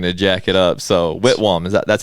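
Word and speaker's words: Whitwam: i was going to jack it up so whitwarm is that that's how you say it with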